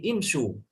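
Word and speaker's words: اِمْشُوا: Langsung dibaca umsyu. Salah ya. Bukan umsyu tapi imsyu.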